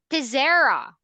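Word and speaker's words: Teixeira: and what is your last name correct it's pizera hmm how did you spell that how do you spell that correct t-e-i-x-e-i-r-a times um how how old are you I'm 14.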